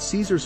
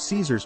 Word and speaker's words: Caesar: its contemporary pronunciation thus his name is pronounced in a similar way to the pronunciation of the German Kaiser or Dutch Kaiser Caesar's